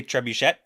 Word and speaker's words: trebuchet: the most angry was the pronunciation of the word trebuchet did it say trebuchet yeah and that is an acceptable pronunciation and I almost needed